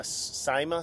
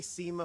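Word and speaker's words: SIMA: He actually was one of the founders of SEMA Simma Snow and Ice Management. I'm here with Charles Glossic, founder of how do you pronounce it? Simma. Simma. I always say SEMA for some reason.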